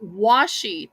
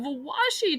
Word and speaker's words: washi: Lisa says it's called washi tape is that the correct pronunciation Washi okay like washing okay all right so